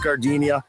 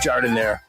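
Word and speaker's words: giardiniera: Don't call it Gardinia. It's pronounced jord in there.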